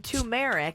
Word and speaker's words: turmeric: Phonetically, they have it at turmeric, I guess. TUR-MER-IK, turmeric. I guess is what it'd be. Turmeric is how you're supposed to say that.